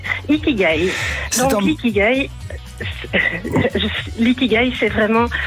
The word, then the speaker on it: ikigai: si je prononce bien ikigai ça se prononce comme ça ikigai donc ikigai litigail c'est